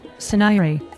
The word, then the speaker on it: Saniri: It is pronounced Suniri.